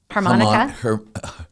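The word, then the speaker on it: HArmonyCa: it be called uh harmonica harmonica like harmonica and you sell it you say it like you do the instrument but it's spelled differently and you the way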